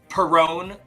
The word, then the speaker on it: Perón: But it's literally about I performed Evita better than Madonna, and Perón rhymes with LuPone, and it is so